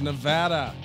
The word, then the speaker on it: Nevada: Vegas Nevada oh look I said it right for once Nevada hi everybody welcome to our newest studio iteration finally some video back for the people and we're here in Las Vegas Vegas Nevada you have to say Nevada people in Nevada get very upset if you say Nevada